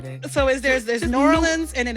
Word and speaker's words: New Orleans: you pronounce it yeah long as you don't say nans nans don't do that that's like toury thing we' be like please don't do that so is there there New Orleans and then it's New